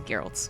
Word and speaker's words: Geralt: So many ways to pronounce this, but the only correct way is Geralt.